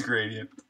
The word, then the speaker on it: gradient: say that am I officially saying it wrong gradient gradient it sounds like it's gradient careful boo what's up this is the Cambridge Dictionary though oh how to pronounce in US English gradient it is gradient gradient gradient gradient all right I'm totally wrong